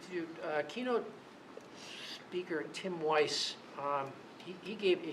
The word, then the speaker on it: Wise: It's It's spelled W I S E, but I believe he pronounces it Weiss. We e as if like wise, but it's Weiss.